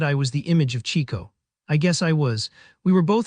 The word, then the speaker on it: Chico: That was how he came to be nicknamed Chico, which was meant to be Chico, the way we always pronounced it.